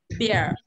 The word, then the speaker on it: beer: Mình đọc là bia đúng không? Bây giờ mím môi khác hẳn này. Beer.